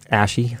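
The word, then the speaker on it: Ashe: I used to call her Ashy, and then I heard people that run the game say her name, and now it's Ash, apparently. Oh. And that's fine. Oh man, Luke. That's a silent E.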